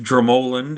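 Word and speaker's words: Dromoland: And so, uh, a couple of others there were Dramoland, it's actually pronounced Dramoland, I learned, um, Castle, not too far away from Adair Manor, and Ashford Castle.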